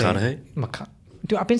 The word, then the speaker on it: McConaughey: I don't know how do you say McConaughey?